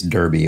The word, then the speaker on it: Derby: cocktail or darby cocktail oh in this case derby it would be darby if it were somewhere in the uk but in this case it's not it's the kentucky derby which means this is